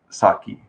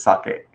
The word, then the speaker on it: sake: beverages such as the saki sake right the actual pronunciation is sake or nihonshu but yeah they start